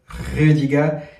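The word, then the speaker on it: Rüdiger: Et justement par la suite, Antonio Rudiger, pardon, parce que c'est vrai que la prononciation en allemand c'est pas pareil, donc du coup c'est Antonio Rudiger.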